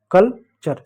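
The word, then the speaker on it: culture: इस यू को क्या पढ़ेंगे, ये साइलेंट होगा क्योंकि सी और एल यानी दो कॉन्सोनेंट के बीच में यू है तो साइलेंट होगा। कल्चर, दो यानी यहाँ पर शब्द खंड दे रहे हैं।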